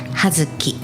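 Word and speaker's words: 葉月: はい、8 月は葉月、葉っぱの葉にお月様の月と書いて葉月と読みますよ。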